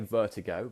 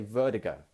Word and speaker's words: vertigo: He says vertigo, and that might be slightly the Irish accent coming in there. I would say vertigo because I'm have more of an English pronunciation, but in the Irish pronunciation, they might say vertigo. And that is also how Americans would say it.